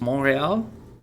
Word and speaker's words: Montreal: uh wednesday june 2nd do they not pronounce the t in montreal it's monreal uh i wouldn't because